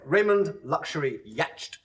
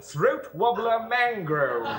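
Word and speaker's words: Raymond Luxury-Yacht: my name I'm sorry Raymond luxury yacht no no no it's spelled so this pronounced throat wobbler mangrove you're very silly man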